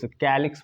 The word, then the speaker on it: calyx: सबसे पहली बात तो इसको के लेटर से प्रोनाउंस किया जाता है के लेटर से प्रोस कैलिक्स बोलता हूं मैं अगर एक्चुअल में